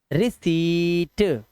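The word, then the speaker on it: receipt: पढ़ो इसको रिसीट रिसीट आधा पाया ना ये लिखा हुआ जो आधा पा लगा हुआ है ट से पहले यह मत पढ़ना ये गलत लिखा हुआ है वहां पे इसे रिसीप्ट बोलते हैं। जब आप कहीं पैसा देते हो तो कहते हो ना भैया प्रूफ के तौर में कोई रसीद मिलेगी। इस रसीद से ही इंग्लिश का वर्ड बना है। रिसीप्ट रिसीप्ट नहीं आधा पा नहीं लगाना है।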